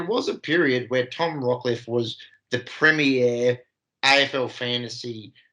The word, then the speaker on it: Rockliff: Tom Rodlift. Is that how you say it? Rockliff. Why'd I say Rob? It was Rock.